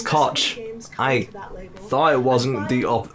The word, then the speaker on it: Koch: the first one is to introduce you to koch media's brand new oh i've been saying that very wrong number two is to take a deep breath yeah it's koch i thought it wasn't the other pronunciation i